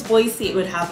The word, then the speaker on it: Boise: but yeah b-o-i-s-e boise i think if it was boise it would have like another e or something so i'm gonna go with boyce idaho that's boise idaho